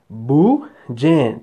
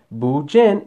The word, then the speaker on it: Bujin: Again, see? Bujin. Bujin. Two syllables. Say it with me. Bujin is a free to play card.